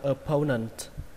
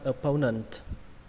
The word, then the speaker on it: opponent: Từ này đọc là opponent. Lên giọng âm thứ hai, opponent.